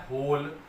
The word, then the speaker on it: whole: W silent होता है, होल number.